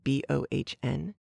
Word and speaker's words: Bohn: at a place called bonn and company b-o-h-n our narrator pronounces it like bone and being an inquest